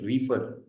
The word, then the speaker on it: reefer: the term is uh I hope I'm pronouncing it right reer yeah that's right so reefer is a